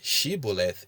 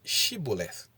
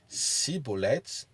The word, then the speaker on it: Shibboleth: to say the word Shiboleth. The Ephraimites, who had no sh sound in their language, pronounced the word with a s and were thereby unmasked as the enemy and slaughtered.